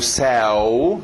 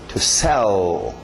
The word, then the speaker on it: sell: Alright, próximo verbo, para no L, não é o sell, não, para no L, é um L de gaúcho no final. To sell.